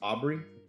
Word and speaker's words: Aubrey: Eric Peterson and Joe your last name is pronounced Aubry Aubry that's right yeah and with Joe Aubry the